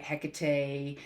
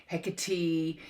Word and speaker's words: Hecate: are working with goddess hekarte hekate hecate um heck arch however you want to say her name spelt with a c spoke with a k very powerful goddess goddess